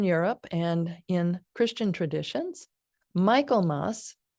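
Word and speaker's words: Michaelmas: and in Christian traditions Michael Moss or sometimes pronounced Mikel Moss is celebrated on September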